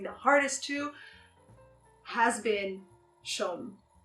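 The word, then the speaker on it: Shum: and like dancing the hardest to has been Shom. Shom, that's how you pronounce it.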